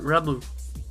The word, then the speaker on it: Lum: Pronounce it the right way. In fact, actually, it should be more like Ramu.